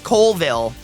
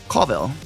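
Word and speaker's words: Colville: says Callville and nine times out of 10 it's Coleville. And I love it cuz when did co become coal? I thought that was coville. Callville. Callville Washington. Yeah. But I love when people say it wrong.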